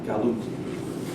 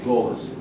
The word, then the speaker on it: galut: When they were sent into exile in the East, it was called exile, galut, or golus, Yiddish pronunciation.